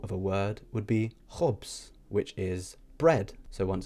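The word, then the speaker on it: ħobż: Another example of a word would be khobs, which is bread. So once again, we have khanzir or khobs. So the letter on its own is pronounced ch. So we have khanzir, khobs.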